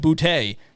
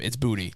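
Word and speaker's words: Boutte: all these announcers continue to say Bouty. That's not how he pronounces his name. It's Booty.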